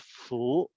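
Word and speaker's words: 福: So this here is the predominant Chinese who celebrate New Year, Lunar New Year, place this symbol, and it's pronounced Fu, at the front of their home or office on Lunar New Year's.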